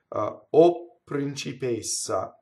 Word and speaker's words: O principessa: Notice again, there's a double P written out. The word O is a strong monosyllable. It causes the P to double. And I do it exactly as I do to pure o principessa. Tu pure o principessa. See, double P, double P.